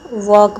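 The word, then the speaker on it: walk: वॉक में भी L silent है।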